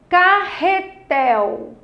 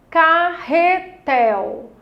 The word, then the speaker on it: carretel: Carretel. Carretel. Qual é a sílaba tônica? Tel.